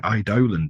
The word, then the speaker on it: Eidolon: So, yes, we're going to be looking at the Dark Eidolon today. And yes, we did have to Google how you pronounce that because you can pronounce it several different ways, but we're going with Eidolon.